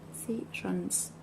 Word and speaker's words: decisions: the she the decisions. No. I again. Schwa. Sure. N Z. Okay. Decisions. And the stress is actually here.